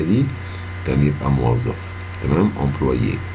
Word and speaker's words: employé: تمام، employé، والاتنين بيتنطقوا زي بعض تقريبا.